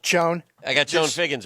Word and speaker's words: Chone: Shone Figgins. Shone Figgins? On the ballot. I don't know what to tell you. I got Shone Figgins right here. Did Shone Figgins even like... Dan, it's pronounced Chone.